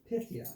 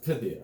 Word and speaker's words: Pythia: So this is the graphic novel that I bought for how's that pronounced? $7. Pythia. Pythia, okay.